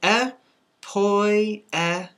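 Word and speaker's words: ἐποίησεν: And we pronounce this epoiesin, epoiesin.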